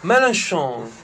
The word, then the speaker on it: Mélenchon: Pronuncialo te se lo sai dire. Mélenchon, non so. Mélenchon.